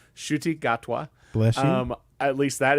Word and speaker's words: Ncuti Gatwa: That is his name, Ncuti Gatwa. Bless you. At least that is the best pronunciation I Yeah.